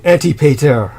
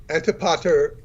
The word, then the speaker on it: Antipater: Oh, Antipater. That's fine. Yeah, I think you're doing fine, really. Sounds like Anti-Peter.